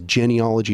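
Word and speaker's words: Jineolojî: Uh the muheris libé in the Spanish revolution uh in the zapatistas you have um genealogy which I don't mean genealogy it's genealogy it's spelled with j i n.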